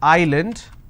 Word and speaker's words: island: solution all right but if i have a word which is island i don't pronounce this as island so s is silent here okay for example